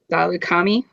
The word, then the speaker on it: Saleucami: Saleucami. Salukami.